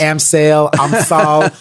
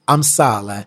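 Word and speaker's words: Amsale: what is that okay okay okay I apologize am sale her name is actually actually pronounced I'm Sala she is from was from was from Ethiopia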